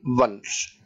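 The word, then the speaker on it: once: और वाव के लिए वंस। देखिए लिखा तो ओ है लेकिन प्रोनाउंसिएशन व का निकल रहा है, ओ एन ई वन पढ़ते हैं हम, ऑन नहीं पढ़ते हैं इसको।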